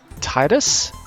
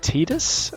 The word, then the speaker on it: Tidus: but anyway we are titus it's sometimes pronounced tidus i am not sure of the correct pronunciation but i will be trying to use titus most of the time as in tiberius but thai dust excuse